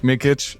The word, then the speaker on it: Mikic: for a very bullish conversation with uh Luke mikit and uh welcome to the show thanks for